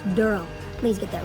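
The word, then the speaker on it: Derle: And he plays Durl and it's spelled D E R L E. It's not Daryl, it's Durl.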